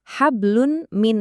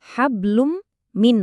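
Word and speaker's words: حَبْلٌ مِّن: Fokus ke tanwin di kata hablun. Nah, dia ketemu sama huruf mim. Suara tanwin yang aslinya un itu langsung melebur total ke mim sambil didengungin. Jadinya hablum min masad.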